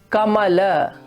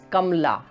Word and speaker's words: Kamala: For example, when we pronounce this word, it is Kamala, Kamala. But when the same word becomes a feminine word like Kamala, then most probably we are going to pronounce it as Kamla, Kamla, or Vimla instead of Vimala.